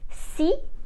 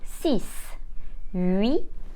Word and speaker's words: six: silent as a result we will say SI not sis not RIT and D not this now let's practice with short sentences if I want to say six cats I would say